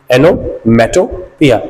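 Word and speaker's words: onomatopoeia: एनोमेटोपिया, ये याद रखिएगा इसकी प्रोनाउंसिएशन।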